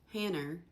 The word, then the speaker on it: Hannah: Hanner instead of Hannah.